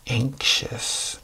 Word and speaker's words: anxious: How about anxious? A-N-X-I-O-U-S. Anxious. Ink. So this X has a K. Usually at the beginning, X has a Z, like Xerox.